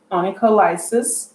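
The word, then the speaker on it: onycholysis: than the hands that are seen so it's pronounced annika lysis that's number 11 all right and that's our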